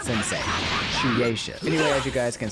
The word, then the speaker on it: Shueisha: So I was saying Shueisha and the last video, okay? And it's not pronounced Shueisha.